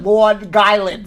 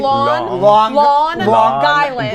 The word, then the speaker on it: Long Island: Brad, the place where you grew up is not Long Island, okay? It's Long Island. Right. That's how I pronounce it. The G's on the second. Yeah. The G's on the second word.